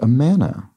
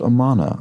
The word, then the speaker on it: Amana: So Dragon Traces corrects my pronunciation of, oh, it's, is it Amana? the kitchen brand, not Amana. I never would have known that. I think in my brain I pronounce it similarly to Amarna, which is from Egyptian history.